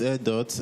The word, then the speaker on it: ERDTO: Okay, it's pronounced Air Dot, and if you look at the spelling, it's actually an acronym, ERDTO.